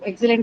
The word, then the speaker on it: excellent: So excellent is on the first syllable.